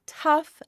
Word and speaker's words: tough: In the word tough, they make the uff sound.